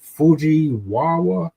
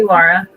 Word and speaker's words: Fujiwara: You I did it once, but I think Fuji Wawa or some something like that. Fuji. Fujiwara.